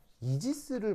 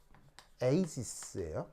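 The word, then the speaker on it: Aegis: 비슷한 얘기가 뭐냐면 옛날에 이제 해군에서 이지스를 만드는데 이지스라고 알아요? 이지스라고 만드는 이지스라고 알아요? 이지스가 뭐냐면 해군 함정 중에 가장 중요한 배 중에 하나입니다. 그래서 이제 정확한 발음은 에이지스예요. 에이지스.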